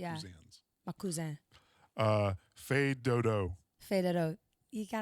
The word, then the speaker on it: fais: Fais. Yeah, fais.